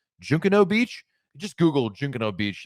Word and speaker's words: Junkanoo: It's spelled Junkanoo. Looks like Junkanoo, but it's Junkanoo Beach.